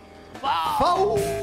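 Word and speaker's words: FAW: FAU se escribe F-A-W y se escucha FAU.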